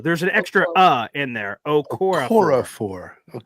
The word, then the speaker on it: Okorafor: And then if it is not that, and just he ends up beating Okafor or whatever his name, I could never pronounce his name right.